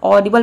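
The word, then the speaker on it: audible: यहाँ पे ऑडिबल आप सोच रहे होंगे कि डी के बाद आई आ रहा है तो इसको हम ऑडिबल प्रोनाउंस करेंगे, तो इसका प्रोनाउंसिएशन रॉन्ग हो जाएगा। इसको हम प्रोनाउंस करते हैं ऑडिबल। ऑडिबल मीन्स होता है सुनाई देने योग्य। तो आपने समझ लिया कि ए के बाद कई वर्ड के शुरू में अगर ए आता है तो ओ प्रोनाउंसिएशन होता है।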